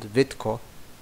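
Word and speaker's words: Vitka: My paternal grandparents grew up in a small town in Hungary called Vitko. It's written V-I-T-K-A, but pronounced kind of like V-I-T-K-O because Hungarian is weird like that.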